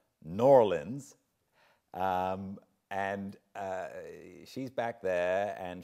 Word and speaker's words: New Orleans: in New Orleans and I was told that I needed to pronounce that noir lens and she's back there